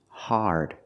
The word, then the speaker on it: hard: we don't say hard the word is pronounced hard it's an open Sound a a r connected to the r like when you say car and far hard also another great